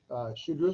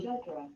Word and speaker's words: Shudra: So we're going to pronounce that word real quick. Shudra. Shudra. Oh, sorry, Shudra. Ready? Shudra. There you go.